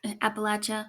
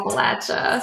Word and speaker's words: Appalachia: hate that and he was in um appal Appalachia Appalachia Appalachia Appalachia Appalachia my dad will come